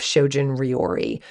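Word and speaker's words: shojin ryori: make sure it's vegan so shoin means shoin means asceticism as a way to Enlightenment and rori means cooking so that's why you have shojun rori s h o j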